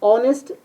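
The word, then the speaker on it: honest: अब हमें जो अगला है ही इज डैश ऑनेस्ट, तो ए और एन में से यहाँ ऑनेस्ट एच साइलेंट होता है जहां और इसे ऑनेस्ट पढ़ते हैं इसलिए यहाँ एन आएगा।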